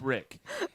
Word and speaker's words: Rick: That's with an R. Rhymes with Nick, but it's Rick.